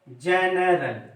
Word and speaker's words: general: मैंने आपको बताया था GENERAL क्या हो गया, जनरल। अब देखिए जी के बाद ई आया है तो ये ज पढ़ा गया है, तब ये जनरल इसका